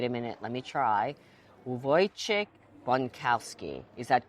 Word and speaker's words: Wojciech Bonkowski: I have next to me our next guest and a master of wine with the name impossible to pronounce. Wait a minute. Let me try. Uvoy chickowski.